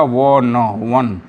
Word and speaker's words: one: You vowel से शुरू हुआ, उसके बाद भी इसका उच्चारण हिंदी के यू से हो रहा है, इसलिए यूनिवर्सिटी के पहले ए लगेगा।